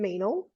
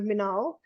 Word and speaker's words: Meenal: rye yeah i don't so the name i suppose mean all is a bit weird there's so many pronunciations of it well i think when people read it for some reason you know they go menaul which to be honest